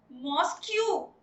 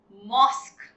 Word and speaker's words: mosque: मॉस्क्यू. No, it is not called mosque. It is called mosque. Yes, mosque.